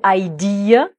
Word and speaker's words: idea: Donc là, le mot idée en anglais se prononce avec 3 syllabes. Et la dernière syllabe, c'est le son schwa, le son E.